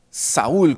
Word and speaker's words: Saúl: decir anhelo bien hermanos del griego saul o hermanos Saúl con acento en la a él reinó entre el